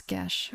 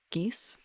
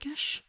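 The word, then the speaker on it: geas: Just question, like, I would pronounce it as Gesh, but I've heard other players of the game who don't know what that word is from pronounce it more like geese or gas, but I'm pretty certain it's supposed to be more like Gesh.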